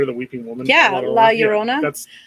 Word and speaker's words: Llorona: Yeah, La Llorona. That's how did you just say that? La Llorona? I can't pronounce. Llorona? Llorona. There you go. Imagine that's a Y.